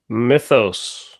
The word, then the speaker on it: Mythos: So am I pronouncing that right? Mythos? Mythos? No, it's Mythos.